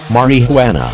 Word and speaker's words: marijuana: facts first on narcotics which begins with a note on pronunciation Marin who Ana is pronounced like this Mariana before cautioning students that